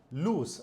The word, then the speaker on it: lose: और इसकी प्रोन्सिएशन होती है लूज।